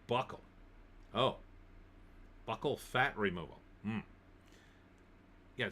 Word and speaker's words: buccal: Ardent buccal, the fat from the cheeks, what they used to call baby fat when you were younger. See, that's ridiculous to remove that. Pronounced like buckle.